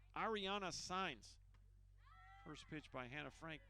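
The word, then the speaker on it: Saenz: Well, to the best of our knowledge, this roster has 2 Signs as players, and the head coach name is Signs, and they aren't related. And that is spelled S-A-E-N-Z.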